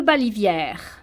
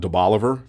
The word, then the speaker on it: Balivière: De Balivière. Ooh, De Balivière. you mean it's not de Bolivar?